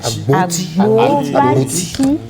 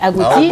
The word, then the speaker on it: Agboti: Agboti. C'est parce qu'on m'appelle Agboti que j'ai accepté. J'ai dit bon. Maintenant vous savez que c'est plus Agouti, c'est Agboti.